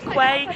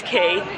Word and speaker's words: Quay: It's not Quay, it's Key.